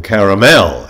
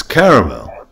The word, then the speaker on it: caramel: there is a surprise i don't like how you pronounce the male in caramel it's caramel caramel yeah i make it